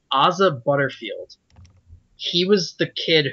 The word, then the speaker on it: Asa: I think it's Issa. Issa? Yeah, usually I think that's pronounced Asa.